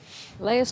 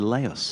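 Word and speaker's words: Leus: That's because a double E in Dutch is pronounced lay, so it's A. There's only one E in his name.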